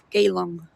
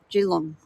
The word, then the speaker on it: Geelong: Like people say Geelong. It's Geelong. You sort of don't pronounce the E.